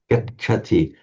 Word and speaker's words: gacchati: Gachati.